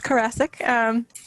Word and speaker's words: Karasik: If we could go to Karasik. Hello, Brian. Can you hear me? I can. Okay, it's Karasik. Classic, okay, sorry. Lovely, rhymes with Jurassic.